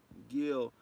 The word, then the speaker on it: Gil: Gil Cole says it's pronounced Gil, like the fish Gil.